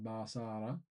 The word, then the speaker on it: Basara: I'm not sure if that is the correct pronunciation. Basara.